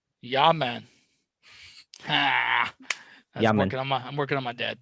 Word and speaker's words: Jamin: well, it's spelled Jamin. I know. People should start saying it's Jamin Davis. Not it can't be Jamin because there's no Y in there. Yaman. Ah, Yamin.